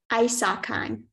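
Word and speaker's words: isocheim: that sounds about right are there any alternate pronunciations no just isakan I suck Khan i-s-a-c-h-i-m-e I'm sorry that's incorrect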